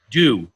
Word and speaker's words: Dew: Well, her name is Dew, but we call her Scooby-Doo, obviously. Wait. Her name is Dew? Dew. D-E-W. Like dew on the grass.